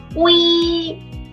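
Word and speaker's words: oui: Vishal, yes, it sounds like we. But let's nuance it. Let's add a little nuance to it. We, but add we. We. Like it's like yippee, but it's that kind of intonation. We.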